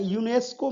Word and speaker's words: UNESCO: वहीं एक्रोनिम्स यानी यूनेस्को में टोटल 6 लेटर्स हैं।